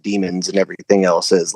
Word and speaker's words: daemon: Like it's spelled Daemon or whatever. But it's their demons.